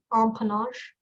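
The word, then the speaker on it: empennage: the right track okay on panache can you pronounce the word again please uh the word is on panache e m p e n n a g e on panache that is correct good job and yeah that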